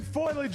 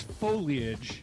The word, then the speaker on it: foliage: Is it foilage or foliage? It's foliage. Foliage. It's three syllables.